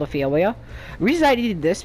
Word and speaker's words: Phiomia: I've been pronouncing this right. It's called a Phiomia.